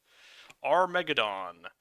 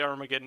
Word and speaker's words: Armageddon: Armageddon. It's actually pronounced Armageddon.